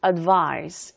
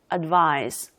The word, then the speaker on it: advise: 돼요 자 그리고 또 중요한 거 동사 때는 advice 이렇게 S 그리고 발음이고 명사 advice 조언의 명사 이때는 C 그리고 발음이에요 동사는 advice 명사는 advice 자 그래서이 알리라 뜻으로